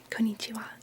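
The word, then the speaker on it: こんにちは: This is konnichiwa. Konnichiwa. And as you'll notice, the wa sound is written with a ha.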